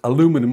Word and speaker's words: aluminum: actually a metal frame it's aluminum as the americans say or aluminium as we say in the uk it it really only